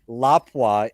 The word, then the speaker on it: Lapua: But Lapua is the correct pronunciation.